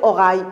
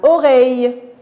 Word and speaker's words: oreille: oreille on pas dit qu'on va pas dire au rail oreilles attention à la bonne prononciation c'est un an fut